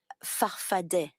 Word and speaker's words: Farfadet: Your movement, you call it Farfada with 2 A's at the end, but you pronounce it Farfadet.